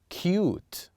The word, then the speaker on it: cute: You see how with these words we pronounce U as it is. We pronounce the letter U as it is. Cute. Cute. Why is this? Because we have the letter E at the end.